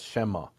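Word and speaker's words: שמא: But when they read the letters Yud-Heh-Vav-Heh, the Samaritans pronounce that as Shema, which is a replacement for the name, meaning in Aramaic, the name. It's kind of like Hashem. It's exactly Hashem, but Hashem's Hebrew, Shema is Aramaic.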